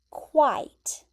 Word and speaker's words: quite: And the pronunciation is the qua, it. Okay? I have that capital I there, but then I just have a T at the end, the T sound.